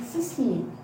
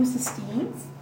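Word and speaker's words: cystine: disulfide bond between two cysteines to give you a cysteine. And you can pronounce it a little differently. You can stress the EI here, and here you don't stress the E. There's no E.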